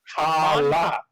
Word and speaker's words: Mon Cala: We were on Moncala. Moncala. It's like Mon Calamari, but without the Mari.